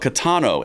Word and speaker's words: Caetano: There's a case called Catano in Massachusetts.